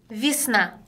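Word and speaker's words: весна: 위스나. 위스나. 한 번 더? 위스나. 그렇죠. 우리 들으셨어요? 위스나가 아니고 위. 비. 위스나. 비처럼 들린다라는 거.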